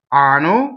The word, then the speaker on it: anno: Okay, so anno means anus. So please, if you do nothing else right in this aria, please double the N.